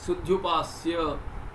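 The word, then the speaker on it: सुध्युपास्य: You will say sudhyupasya, you will pronounce it that way and you will write for some reason why.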